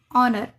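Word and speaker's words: honor: Same यह भी ऑनर।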